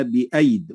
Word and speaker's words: بأيد: منهما عليها الصفر المستدير، فمعنى ذلك أنها لا تنطق، فنقول والسماء بنيناها بأيد وننطق ياء واحدة.